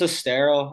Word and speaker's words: Estero: Yeah, so they live right in, is it Estero or is that how you pronounce it? Yeah, so it's Estero.